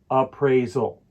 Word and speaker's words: appraisal: or successful they are appraisal has three syllables appraisal to help you with the pronunciation use this as a guide appraisal the stress falls on the second syllable appraisal try to say